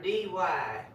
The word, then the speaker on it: Gertie: You have to pronounce the D like a Texan.